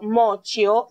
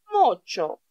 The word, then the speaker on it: mocio: Να προφέρω μόσιο, θα ήταν λάθος. Ξέρουμε το τσι, το τσι και το ι προφέρεται τσι, αλλά όταν έχω και το ο δίπλα από το τσι, προφέρω τσο. Μότσο.